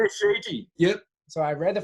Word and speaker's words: Shiji: Is that how you say it? Shiji? Yeah, Shiji.